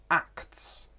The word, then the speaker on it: acts: In consonant clusters, it's common that the middle consonant disappears. So, acts. Acts could become axe, which is a different word, absolutely.